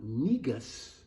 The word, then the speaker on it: negus: and their dignity and instead of calling them negus neg us we're going to get rid of